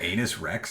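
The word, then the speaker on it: Canis Rex: I believe it's pronounced Anus Rex. Is it Anus Rex? It is Anus Rex. Way. That's hilarious. All right. The C is silent.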